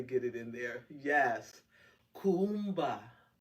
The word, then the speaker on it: Kuumba: it in there yes Kumba Kumba knows the pronunciation there's two U's and you hit both of those U's creativity creativity let's read